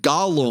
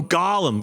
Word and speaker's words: golem: I'm saying Gollum. Oh, Golem. Golem. I get what you're saying. It's Yes. Golem. So a golem. I don't want to lose more viewers from mispronunciation. Gollum is that little guy in Lord of the Rings. That's right. A golem is the Jewish rock monster.